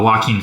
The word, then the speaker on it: Joaquin: Starring, this, I can't remember how to pronounce his name. Is this guy? Oh, Joaquin Phoenix.